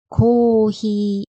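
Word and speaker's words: コーヒー: 마지막 코히는 커피라는 뜻인데요 코히는 장음이 두 개라서 장음의 주의해 주셔야요 같이 한번 발음해 볼게요 고히 포히 뒤에 데스를 붙이면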